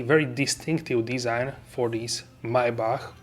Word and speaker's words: Maybach: As you can see, very distinctive design for this Maybach, or we can say Maybach or Maybach. We have different pronunciations. In German it is Maybach, and in the English we can say different once again.